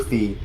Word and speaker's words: Fi: That actually is like Fee does I I know technically canonically it's pronounced Fi, but I I call her Fee.